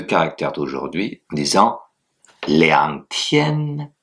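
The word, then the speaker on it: 天: Il faut qu'il y ait du souffle. Allez-y après moi. Tien. Voilà. Tien. Très bien. Vous pouvez donc maintenant utiliser les deux caractères d'aujourd'hui en disant Liang Tien, 2 jours.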